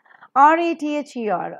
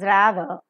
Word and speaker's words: rather: so it is this r-a-t-h-e-r or Radha now the American pronunciation is rather British pronunciation RP is rather b-a-t-h-e practice for more